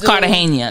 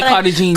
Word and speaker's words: Cartagena: It's Cartagena, though. You always say Cartagena. Cartagena. The G in Spanish is pronounced as Cartagena.